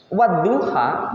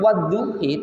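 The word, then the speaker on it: وَالضُّحَىٰ: daerah Afrika itu ya, itu membacanya bukan wadduha, bacanya memang wadduhi, tulisannya sama tapi cara bacanya beda.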